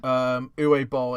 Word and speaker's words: Uwe Boll: Uwe Boll. It's pronounced U-W-E, and then his surname is B-O-L-L.